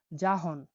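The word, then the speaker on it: jahon: পরবর্তী অক্ষরটি হলো যে, যে উচ্চারণ হয়ে থাকে জয়ের মতো, বুরকির জয়ের মতো। উদাহরণটা দেখছি আমরা, দেখুন, জাহন, জাহন, জাহন, জাহন মানে হলো বিশ্ব। বলি না জাহান, জাহানকেই উজবেকে বলা হয় জাহন, মানে বিশ্ব, ওয়ার্ল্ড, জাহন।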